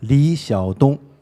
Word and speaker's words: Xiadong: So did I get it even remotely right, the pronunciation? Yeah, Xiadong, that's the name in Chinese, and Liyuan Library.